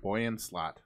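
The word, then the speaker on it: Boyan Slat: Boyan Slot. That's how you pronounce it?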